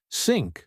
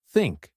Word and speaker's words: think: small bit of air if you say think you can feel your tongue touching your Upper Front Teeth yes and many Learners might say syn or think instead of think it's common so remember to stick your tongue out slightly then gently blow air that way you can form the th sound correctly another tricky sound is